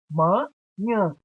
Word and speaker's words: manhã: Manhã. Manhã. Nhã é a sílaba tônica e está na última posição.